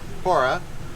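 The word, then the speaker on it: POWRA: Wildfire OHV recovery Alliance pora the W is silent and we're uh restoring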